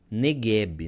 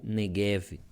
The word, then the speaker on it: Negev: Então, temos lá a palavra Negueb, né? Ou Negev. Vamos colocar aqui. Negueb ou também Negev, dependendo da pronúncia, da tradução, né?